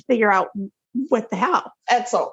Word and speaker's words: Edsel: Edsel, if your name rhymes with pretzel, don't go.